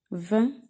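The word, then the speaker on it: vingt: 20. On a ici le mot, ça s'écrit avec le son 1. On a 2 lettres muettes. 2 lettres muettes, G et T.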